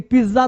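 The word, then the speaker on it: pizza: आगे देखो, अब देखो ये तो सब खाते हो ना, पिज्जा, पिज्जा, लेकिन पिज्जा तुम गलती बोलते हो, पिज्जा, ज, पिज्जा गलत है साउंड, क्या होगा सर, पिज्जा, ये पिज्जा का नहीं, पिज्जा, पिज्जा।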